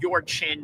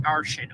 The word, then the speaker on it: Yurshin: Yurshin says, I hope you know that my name is pronounced your chin, not Arshin.